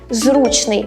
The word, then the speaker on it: зручний: тут є неочевидний виняток зручний має наголос на першому складі бо походить від прислівника зручноктьк ше слі більшеі